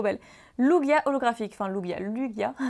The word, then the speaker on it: Lugia: Lugia holographique, enfin Lugia, Lugia, il y en a qui disent Lugia. Mais quand vous regardez les films Pokémon, c'est bien Lugia. Prononciation ou.